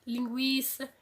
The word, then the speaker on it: linguiça: 50, depois sem a trema, linguiça. A gente percebe-se que a perda da trema não afetou a sonoridade, a pronúncia da palavra. Então, tranquilo continua com a mesma pronúncia, tranquilo.